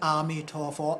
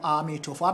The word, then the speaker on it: Amitofo: you see us pronouncing Amitofo, Amitofo. Amitofo and Amitabha are the same thing. So when we chant it, we chant Amitabha, Amitabha, Amitabha, Amitofo, Amitofo, Amitofo. Amitofo is the Chinese version of Amitabha, or the Chinese translation, language form of Amitabha.